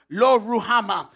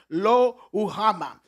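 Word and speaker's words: Lo-Ruhamah: Deuxième nom, the second name, deuxième nom c'est Lo Ruhama, or if you're pronouncing it in the true Hebrew it's Lo Ruhama. This is one of the ways they pronounce it.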